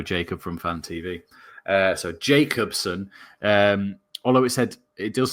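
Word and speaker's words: Jakobsen: Yeah, you don't say J, I think. Jacobsen. It's because we know Jacob from Fan TV. So Jacobsen, although it does say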